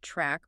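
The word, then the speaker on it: Trk: The charch receptors spelled TR R K pronounced track are the good guys.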